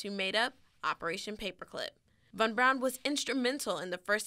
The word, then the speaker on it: von Braun: famous figure first he's commonly referred to as fun Braun but it's actually pronounced von Braun next von Braun is